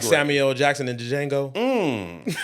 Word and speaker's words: Django: So, you're like Samuel Jackson and Django. First off, the D is silent, so watch your mouth.